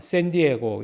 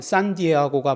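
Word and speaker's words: San Diego: 발음하는 스시에서 온 거죠 그러면 샌디에고가 산 디에고가 맞느냐 샌디에고가 맞느냐 이렇게 이제 뭐 이야기가 붙었어요 그러면 고유명사 그 사람들이 부르는 것대로 부르는게 맞다 이렇게 얘기한 거죠 어 그 이제 그음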